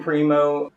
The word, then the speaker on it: Primeaux: So I'm Primo.